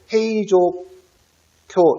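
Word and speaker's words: 平城京: 일본의 수소가 도쿄 잖아 이걸 보호 q 일본식 발음으로 그래서 행 위한 행위 조표 헤이 조 쿄 여기가 바로 수로가 되는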